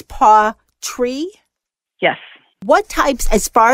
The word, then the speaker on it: pawTree: a cat okay and I was saying it wrong it's Paw tree yes what types as